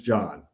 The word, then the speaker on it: John: you're pronouncing our names try to be very careful to not pronounce the silent h yes one is john and the others john oh that's very important